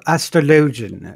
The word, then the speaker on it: astrologian: just is monk um second would actually be astrologin or astrologian as uh i think is the official pronunciation you know as a i have food